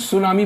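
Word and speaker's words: tsunami: कुछ बनता नहीं इसलिए टी को साइलेंट करके हम सुनामी बोलते हैं नॉलेज की स्पेलिंग की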